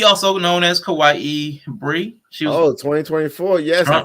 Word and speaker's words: kawaii: website i think it's kawaii for the culture it's like spelled like hawaii but with a k on it kawaii for the culture so